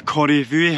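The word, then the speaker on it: Corrag Bhuidhe: around the other side called the Corrie Vuey, I think it's pronounced.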